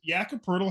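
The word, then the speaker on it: Jakob Poeltl: you think you're gonna be looking at a word that phonetically reads like turtle, right? Yeah. Turtle, but you're looking at a word that's POELTL. I'm sorry, no R.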